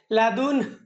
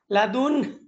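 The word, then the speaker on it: لدن: তাহলে সঠিক উচ্চারণটা কিভাবে হবে? লাদুন শেষের দিক দিয়ে একটা আওয়াজ বাহির হবে বাতাস লাদুন পরবর্তীতে আপনি যেভাবে শুরু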